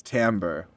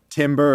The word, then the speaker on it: timbre: what the word is it is Timbre oh is it without but oh but it doesn't I oh it is spelled with an i it looks like Timber or Timbre but I'm glad I